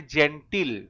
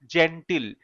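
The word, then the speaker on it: genteel: কথাটা বলা যেতে পারে আমরা এখানে বলতে পারি জেন্টিল মানে ভদ্র জেন্টিল টি ডবল ভালো করে শব্দের বানানটা দেখো জেন্টিল জিই এন টি ডবলই এল জেন্টিল মানে ভদ্র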